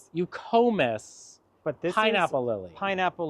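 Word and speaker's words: Eucomis: And these dark foliage sticking out of the ground is, I always say it wrong. It's euconomus? Eucomus.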